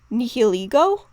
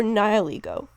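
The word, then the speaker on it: Nihilego: So this would lead me to believe that the appropriate pronunciations would either be nihiligo or nihiligo, and either would be acceptable.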